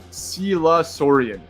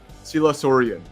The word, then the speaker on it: Sila Sorian: My name is pronounced Sila Sorian. Sila Sorian.